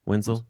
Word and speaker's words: Wentzel: I never pronounce his name right. I don't Wentzel, think I did. yep. Wenzel?